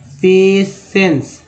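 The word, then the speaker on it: patience: ई एन सी ई, इसका उच्चारण क्या होता है पेशेंस, क्या होता है पेशेंस, पेशेंस होता है, तो जिसमें सी को सब बोलते हैं, ई एन को एन ना बोलते हैं, तो पी ए से पे टी आई का उच्चारण जो है श के रूप में आ रहा है, देखिए टी आई से स हो गया और ई कार के लिए ए हो गया, तो पेशेंस हो गया।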